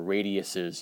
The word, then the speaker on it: radii: And that's all due to the fact that they have different radii, or radiuses, you could say. I guess radii is the right way to say it.